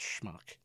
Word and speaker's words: schmuck: telling my daughter that it's not pronounced SMU it's pronounced schmuck and then I was